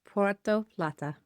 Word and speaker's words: Puerto Plata: Puerto Plata.